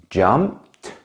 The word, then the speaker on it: jumped: of this Ed ending a very common mistake is to pronounce it like Ed some people therefore would say walk Ed jumped and so on this is incorrect the correct pronunciation is very different usually the ending is pronounced like a t sound listen again to the